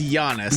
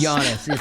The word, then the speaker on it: Giannis: is again it is Giannis Giannis silent G apparently that's pronounced like a y he's from Greece oh did you really